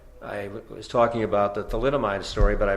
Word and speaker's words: thalidomide: I'm a doctor and you just pronounced thalidomide as tool item ID in your newscast that